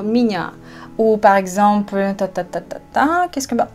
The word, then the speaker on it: меня: Moi, je prononce plutôt pas меня, mais je dis plutôt меня.